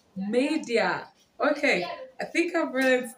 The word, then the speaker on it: Maydea: media wait media i always saved i was wrong all this while so it is pronounced media okay i think i've